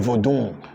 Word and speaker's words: vodun: That's why even the word called vodu, as it is called in this Togo and Ewe land in Volta region, they will call it vodun because they have their accent or dialect is always nasal.